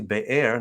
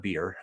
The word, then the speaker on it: Beer: from there they went to beir not beer okay i heard somebody pronounce this as beer zabir it's beer which is a well which is the